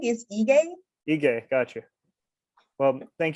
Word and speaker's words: Ige: So we're very honored to have Simbo Ije. Is that the correct way to pronounce it? Almost. Sorry. The G is strong, is Ige.